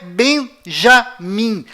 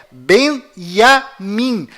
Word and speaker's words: Benjamin: é tchau além disso não é bem já mim a pronúncia correta é benjamin pois lembre-se até hoje não existe em hebraico nenhuma letra com som dj confira é bem a mim